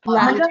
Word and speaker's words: La Junta: La Junta? Am I pronouncing that right? Where? La Junta, LAJUNTA. Oh, Junta, La Junta. La Junta?